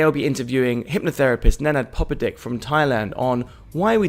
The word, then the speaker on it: Popadic: Popadic, yes. Popadic, get that pronunciation right. Popadic.